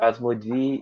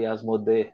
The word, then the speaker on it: Asmodee: from misha that the the right pronunciation for asmody is actually asmode right i think most people here in brazil say but i i think i think a lot of english countries are saying as modi as well but that's